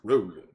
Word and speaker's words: Crowley: I think the proper way to say it is Crowley.